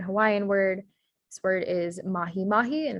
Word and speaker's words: mahi-mahi: pattern here is that the e sound is spelled as an i in hawaiian so the correct spelling for